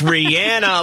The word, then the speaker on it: Rihanna: or is it rihanna no it's rihanna like being like banana but you sound like